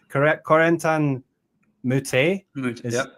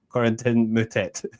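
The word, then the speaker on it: Corentin Moutet: So like Corentan Moute, that's his actually how his name is pronounced. But then you go on the ADP site and he's just saying Corentin mut or something like really. Okay. And so I'm like that's definitely not how you pronounce it in French, right?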